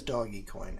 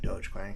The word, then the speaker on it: Dogecoin: Dogecoin is doggy coin, and it drives me nuts that people call it Dogecoin, because why? There's no reason you would ever call it that. First of all, like, you would never pronounce it that way if it was just a word and it didn't have a dog as the word represents a dog, and it has the